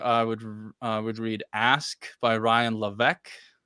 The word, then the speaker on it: Ryan Levesque: Yeah, for surveying and customer interviewing in particular, I would read Ask by Ryan Levesque. It's Ryan Levesque, or that's how it's pronounced, or You written put down.